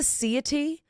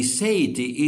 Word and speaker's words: seity: Is this the seity which is spelled like deity but it has an s. Yeah. The say the sity is this field with these properties you see.